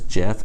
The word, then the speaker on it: GIF: I know some of you pronounce it as GIF. I pronounce it as GIF, and so does Obama.